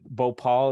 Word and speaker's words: Bhopal: obviously a worldwide tragedy correct me is it Bhopal is how you pronounce it yep right so another great writer